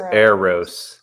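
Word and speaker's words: Arrows: The real Terry said it's pronounced Aros.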